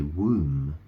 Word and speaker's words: womb: It's spelled W-O-M-B. So, you know, the B is, the B is, I suppose it's silent, isn't it? You say womb. You don't say womb. Really, you say womb.